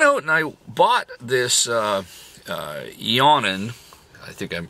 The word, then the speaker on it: Eonon: I went out and I bought this Eonon. I think I'm pronouncing it right. E-O-N-O-N.